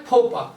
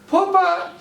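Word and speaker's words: faux pas: अब जैसे पहला है फोपा। फोपा, इसमें देखो बोलने का उच्चारण ध्यान रखना है।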